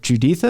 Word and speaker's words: Juditha: process of leaving it's it's uh is it juditha is that how she pronounces her name yes okay she the mother